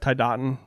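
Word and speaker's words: Tiadaghton: that yes the turkey path yeah yeah through thai dating did i pronounce it is that pronunciation right tai dating yep that was pretty much dead-on some people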